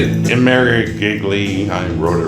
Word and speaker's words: Imerovigli: Imerovigli.